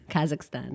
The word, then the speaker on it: Kazakhstan: How do you pronounce that Yes. country? Kazakhstan.